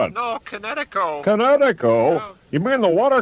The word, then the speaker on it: Kinetico: You should have remembered kinetic as in kinetic energy with an o on the end, Kinetico.